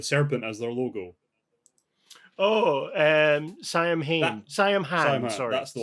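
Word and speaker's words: Saim-Hann: Yeah, I was always leaning towards the Sam Hain-esque interpretation of pronouncing that, which is also the wrong pronunciation of Sam Hain.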